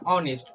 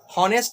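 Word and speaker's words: honest: इस तरह से इसको पढ़ा जाता है ऑनेस्ट, हॉनेस्ट नहीं पढ़ा जाता है।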